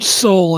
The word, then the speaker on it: Soule: Anyhow, Richard Soul, and Soul is spelled Soule, and I have a